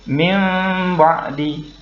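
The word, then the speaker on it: مِنْ بَعْدِ: Jadi bacanya bukan min ba'di tetapi minim ba'di. Nah, ketika menukar bunyi nun menjadi huruf mim, mulut kita tidak harus ditutup rapat. sisakan sedikit sehingga bacanya menjadi min ba'di.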